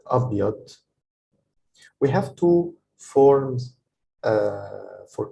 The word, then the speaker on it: أبيض: By the way, the da is heavier than the letter d, like del, d. It's أبيض. So that's why people sometimes write it like this, like dh to emphasize that the letter is pronounced like أبيض.